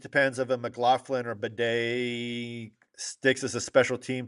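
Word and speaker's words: Badie: Um but um or Batty, excuse me, Batty. Batty. It's It reads like Batty's. It's Bedet.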